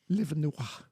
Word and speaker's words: Livernois: It's actually pronounced Livin' Noir.